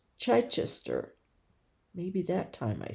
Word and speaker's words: Chichester: Richard of Chai Chichester.